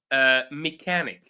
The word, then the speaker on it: mechanic: So some of them is chemotherapy, for instance. It's quite bad word, but I'm sharing it anyway. Uh, so these are some nice words. So that have ch pronounced as k. So chemistry, mechanic, chemotherapy.